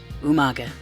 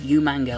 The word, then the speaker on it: Umaga: against Vince McMahon's representative Umaga at this point you can rest easy knowing that not all of us Englishmen pronounce it you manga like William Regal used to on that night